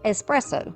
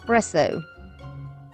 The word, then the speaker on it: espresso: of my viewers who told me that is pronounced espresso my whole life as country as I am we have said presso that is incorrect so if it bothered